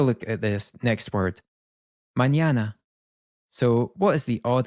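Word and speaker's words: mañana: This is a special character which is still an N, but it's almost like it has a Y immediately followed by it. So, we get this N sound. Mñana.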